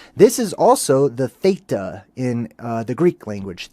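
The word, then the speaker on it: teth: Um, but it's not pronounced with a hard t. It's more of a th sound. This is also the theta in uh the Greek language.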